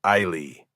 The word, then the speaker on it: Eiley: Eiley. I'm not sure I'm pronouncing it right. It's pronounced Iley.